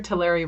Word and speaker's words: Tulare: Remember, Tulare rhymes with dairy.